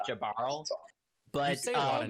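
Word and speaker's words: Jaearl: his name wrong it's it's spelled j-a-e-a-r-l so i think it's just jabarl but a lot of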